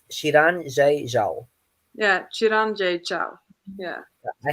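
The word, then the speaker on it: Xiran: gonna try this is also really difficult to pronounce it's shiran yeah chiranji ciao yeah i had to listen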